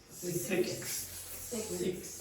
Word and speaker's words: six: Six. Six. Six. Okay. So this this is problematic for a lot of you. Six. So consonant clusters when they go together.